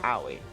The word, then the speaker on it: Aoi: Aoi, I don't know how to pronounce her first name, but Hina. Heya! I'm Aoi. Oh, Aoi.